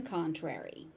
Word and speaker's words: contrary: The Y at the end is pronounced. Note, this is most likely to be seen in the phrase on the contrary.